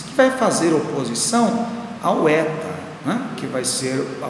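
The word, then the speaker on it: ἦτα: sua pronúncia em português letra aberta Eta que corresponde ao som e em atleta a próxima letra a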